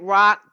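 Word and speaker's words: Roch: Rock. This name is spelled uh R O C H. R O C H but pronounced R O C K.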